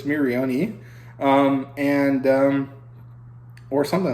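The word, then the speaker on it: Miorine: want to call her Marion but the way that it's said in Japanese the e at the end is pronounced so it's miriani um and um or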